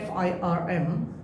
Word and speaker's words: firm: আমি যদি বলি একটা ফ্যাক্টরিকে ফার্ম বলা হয়, FIRM, ফার্ম।